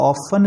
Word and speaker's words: often: They often, OFTEN में टी लिखा जा रहा है, पढ़ा नहीं जा रहा. They ऑफन listen.